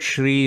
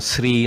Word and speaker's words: Shri: So Shri, okay, so the word Shri is another name for Lakshmi. We have to pronounce it as Shri with the Sha sound. Sometimes Sri, no, but it's not really Sri, it's Shri, SHRI, right?